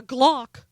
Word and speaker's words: Glock: out and buy a glock than it is to get a book first of all I'm not sure Obama even knows what a Glock is and rhymes with clock oh yeah Glock but